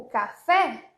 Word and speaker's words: café: único som por exemplo o café é café esse sempre e sempre e sempre e fechado não existe é E